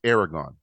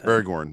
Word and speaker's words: Aragorn: one Jon Snow versus Aragon or Gorn or Strider Aragon I thought you talking about the dragon or something sorry Aragorn I said it wrong say Strider Strider Strider